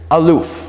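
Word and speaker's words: אלוף: hebrew word for a best friend here is aloof everybody say aloof yes so i would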